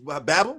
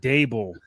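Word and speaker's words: Daboll: foundation like Well, well they a coach Babel Babel Babel Babel I'm saying it wrong. God bless. I'm saying it wrong and I want to apologize for Dable.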